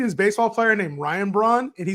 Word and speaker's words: Braun: Christian Braun, right? So I think it's Brown, actually. I think they pronounce it Brown. Who knows? No, it's Braun. Christian Braun. I trust me, it's Braun.